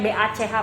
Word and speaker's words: Bach: Gimana bacanya? B-A-C-H, pokoknya Bach gitu.